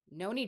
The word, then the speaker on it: Noni: It is Noni.